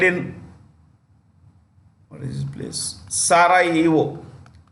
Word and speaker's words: Sarajevo: Sarajevo. The J is silent.